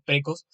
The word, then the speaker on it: praecos: Luego estaban los precos, se escribe praecos, pero en latín el diptongo ae se pronuncia e, así que son precos.